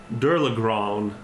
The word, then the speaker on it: Dirlagraun: as you're having this exchange with this beast who introduces themselves as That's a cool Durlagron.